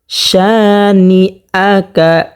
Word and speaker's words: শানিআকা: যেমন জের হরকতের বামে নুনের মধ্যে তাসদীদ হয়েছে, যেমন ইন্না, ইন্না শানিআকা, শানিআকা। শা এখানে একালিফ পরিমাণ টানিয়ে পড়তে হবে। জবরের বাম পাশে খালি আলিফ হওয়ার কারণে একালিফ পরিমাণ টানিয়ে পড়তে হবে, যেমন ইন্না শানিআকা হুয়াল আবতার।